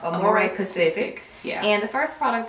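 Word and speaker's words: Amorepacific: And I also got a few products from the Amore specific brand. Pacific brand. I keep saying it wrong. Amore Pacific.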